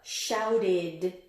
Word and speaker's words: shouted: Even though it has an ed ending, what does it sound like? Id, t, d. Shouted. You already got it, I can tell. Shouted. It's kind of got that id.